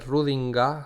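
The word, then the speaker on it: Schrödinger: Por parte de, bueno, la aportación de ideas de grandes científicos como el Rudinger, el Rudinga se pronuncia, ¿vale? O suena Rudinga este el del gato o Heisenberg.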